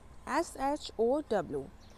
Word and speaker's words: show: So the phonic sound of O is O and W is silent. W यहाँ पे silent है.